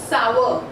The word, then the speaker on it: sour: So in British English, the pronunciation goes sour, sour. This R in British English is silent, whereas if we talk